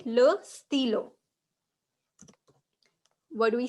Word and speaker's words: stylo: Okay, in French, whenever there is we, there's 50 and 60% of chances that you will pronounce it as I. Okay, how do we pronounce I in French? Ash. Sorry, E. Okay. Okay, how do we pronounce I in French? E. Très bien. So we will most of the time pronounce it as E, d'accord? So it will be sti. Okay, this one is acting as an E, d'accord?